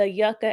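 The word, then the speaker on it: Yuka: So, I really want you to pause this video and download the Yucka app. It's spelled Y U K A.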